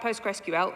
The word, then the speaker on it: Postgres: So I'm here to talk about PostgreSQL, or Postgres, because no one's got time for 4 syllables.